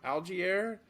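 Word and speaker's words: Allgeier: to do you got Tyler algiere I think it's how you say his name algae air the guy from Atlanta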